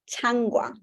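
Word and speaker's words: changua: soup from Columbia okay the pronunciation is changwa it is awful can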